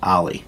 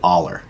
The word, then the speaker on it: Aller: a benched my aid Ally it's actually pronounced ally but it's spelled like you would say aller a ll ER so